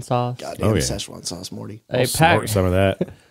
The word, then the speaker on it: Sichuan: episode for season 3 it's all about the sesan sauce godamn Sichuan sauce Morty some of that a pack of